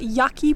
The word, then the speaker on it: Yaki: We are at Yaki Point.